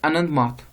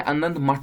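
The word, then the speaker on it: আনন্দমঠ: इसके बाद आ जाते हैं नेक्स्ट बुक पे, दैट इज आनंद माथ, ठीक है ना, या आनंद मठ भी आप कह सकते हो, प्रोनाउंसिएशन में इस तरह से हो सकता है।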